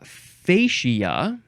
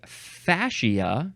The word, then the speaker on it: fascia: much whoa next is now you can pronounce this a few ways uh fascia that is for numbers one and three it looks like um for number two is usually fasia not fasia but fasia and I feel like